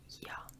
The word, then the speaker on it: ja: J's in German sound like a Y, so that's one thing that's tough is the alphabet. A lot of letters don't sound how they do in English. So yeah, ja is how you say yes.